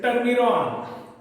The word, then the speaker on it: turmerone: Then common, it इज टर्मिरॉन, TURMERONE, टर्मिरॉन, TURMERONE, टर्मिरॉन.